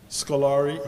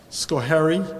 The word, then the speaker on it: Schoharie: Scolari, how is that pronounced? Schoharie, thank you, county.